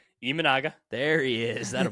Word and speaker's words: Imanaga: Imanaga.